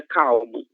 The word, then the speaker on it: calma: Então, sempre que vocês virem a letra L no final de uma sílaba, ela obrigatoriamente terá som de u.